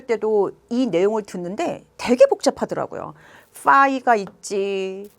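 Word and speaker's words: φ: 기호를 우리는 뭐라고 읽냐는 파이라고 읽어요 파이 우리 원주율 얘는 파이 피 발음이고 얘는 F 발음이에요 파이 파이라고 읽어요 그래서 요렇게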